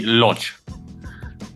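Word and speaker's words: Łódź: And how is it pronounced? Lods.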